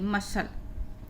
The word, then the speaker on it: muscle: पढ़ेंगे इसको, सी साइलेंट है, इस एस का उच्चारण हो रहा है तो कॉर्पसल। ये आपका एग्जाम्पल बहुत काम का है। MUSCLE, मसल।